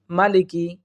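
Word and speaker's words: مَالِكِ: মালিকি, এখানে আমরা ভুল করে থাকি, অনেকে পড়ে থাকি মালিকি, মালিকি, অথবা অনেকে বলে থাকি মালিকি, মালিকি, দুইটাই ভুল। সঠিক হচ্ছে মালিকি, মালিকি। এরপর দেখুন ইয়াউমিদ্দিন, ইয়াউমিদ্দিন, এখানে একটা বড় ধরনের আমরা ভুল করে থাকি।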